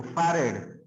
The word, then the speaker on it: farad: सर एक बार इसका pronunciation बताइए ना। फैरेड, फैरेड, इधर देखिए फैरेड, फैरेड।